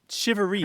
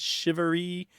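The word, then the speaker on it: charivari: everyone hears that it's shivery how would you spell that I've seen it c h a r i v a r i but it's pronounced like s sh i v a r e e and my folks were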